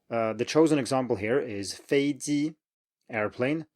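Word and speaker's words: 飞机: So what many students do is that they kind of chicken out on the second one and say something like 飞机, or 飞机, or do whatever. They change something on the second syllable because they can't stand having 2 in a row. But you just have to do it that way. 飞机 is the way people say airplane.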